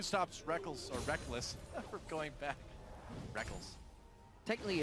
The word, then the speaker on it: Rekkles: I still want to call him Rekkles, but I've just gotten so used to calling him Reckless because he says so.